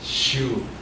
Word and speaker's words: Sue: Then we have Sue here. Tama mo pronunciation? No, but it's Shu.